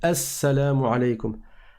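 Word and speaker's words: السلام عليكم: flemme qui va donc le LEM ne va pas se prononcer parce que le signe est une lettre solaire on en parlera dans les cours d'arabe sur la chaîne arabe simplement inch'Allah après avoir parlé des lettres on parlera des lettres solaires et lunaires donc ça se ça s'écrit elle salam aleykoum mais ça se lit assalamu alaykoum il est indispensable de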